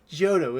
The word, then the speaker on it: Johto: sinnoh cena right yeah canto canto canto yes jahoto jehota ah i say jojo but it is jonah i'm i'm joking i was like it was you were like and i was like that's johto is what about hoenn yeah owen univer yeah